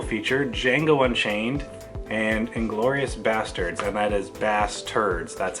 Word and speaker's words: Basterds: have a double feature Django Unchained and inglorious basterds I might as Basterds that's how it's pronounced I already own jingle and chained on